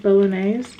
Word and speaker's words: Bolognese: And I really like the pasta bologn bolognese. Bolognese is how you say it.